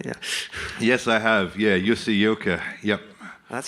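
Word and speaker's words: Jussi Jylkkä: Yeah, Jussi Ilkka. Yep. That's how you pronounce it.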